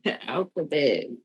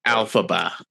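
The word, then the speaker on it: Elphaba: You said the alphabet and it's pronounced alphaba.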